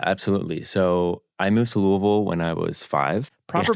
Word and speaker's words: Louisville: growing up yeah absolutely so I moved to Louisville when I was five proper pronunciation there I mean obviously you're from there